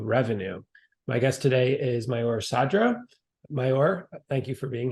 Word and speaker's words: Maor Sadra: So I'm Maor Sadra. That's how you pronounce my name.